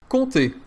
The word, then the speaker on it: Comté: Comté.